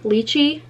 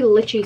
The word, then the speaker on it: lychee: the pink glitchy okay people also say that i say it wrong lychee i like the way litchi sounds better i don't know who